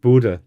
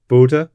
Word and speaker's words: Bodø: I don't know, to be honest, because the fans last night seemed to be noticing it Bodø with almost a U sound, but I so Bodø, Bodø, fine.